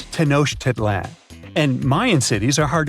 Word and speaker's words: Tenochtitlan: Okay, it's Tenochtitlan. And Mayan cities are hard to pronounce too.